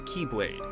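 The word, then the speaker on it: χ-blade: one must possess the key blade which spelled out looks like x blade the letter x represents the greek symbol for chi which in the kingdom heart series is pronounced as key the symbol would serve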